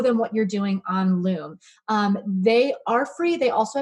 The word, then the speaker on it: Loom: Loom, rhymes with Zoom, but totally different service, is another great tool.